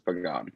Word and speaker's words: Pagan: My name is Pagan. It's written Pagan, but it's Pagan.